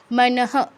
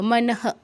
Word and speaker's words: মনঃ: মনঃ, বিসর্গের পরে কিছুই নেই, তাই বিসর্গের উচ্চারণ হবে পূর্ণ হয়ের মতো। মনঃ, মনঃ, এরকম।